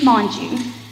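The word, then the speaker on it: Mongeau: Monji. Could you spell it?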